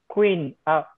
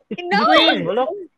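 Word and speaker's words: Quỳnh: We pronounce that in English maybe queen. Yeah. Queen Yeah.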